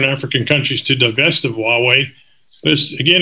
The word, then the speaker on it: Huawei: all heard a lot about this company called huawei that's how it's pronounced way and huawei is a telecommunications company